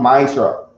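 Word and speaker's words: מעשר: It means tenth in the Hebrew and is pronounced ma'ishra.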